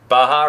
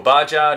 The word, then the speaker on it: Baja: saw this electric starter on a baja or bar jar depending where you're from or how you like to pronounce that and i thought well